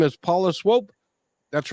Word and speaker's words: Swope: A lot of people pronounce it swoop. Oh, and, yeah. And I don't know where they get that because of the way it's spelled, but I kind of like it. It's like, swoop you up. But yeah, it's swope.